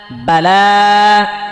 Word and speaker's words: بلا: আর লামের মধ্যে খারা জবর আছে, খারা জবর খারা জবর উল্টা পেশ হলে এক আলিফ টেনে পড়তে হয়, এই জন্য এখানে টান দিয়েছে এক আলিফ।